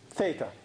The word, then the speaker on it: theta: between them and if we call that angle theta this letter Greek letters we use a lot for angles and it's pronounced this thing is Theta okay now my